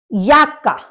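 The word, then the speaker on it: Jacke: pullover यानी कि sweater याका क्योंकि जर्मन में जे को या बोला जाता है या की तरह से प्रोनाउंस करते हैं तो इसलिए आपका होगा याका याका मतलब जैकेट माटेल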